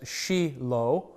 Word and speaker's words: Shiloh: who put in the pronunciation pronounced it as sheilo but that's not necessarily authoritative it has been suggested that that shy low could be made up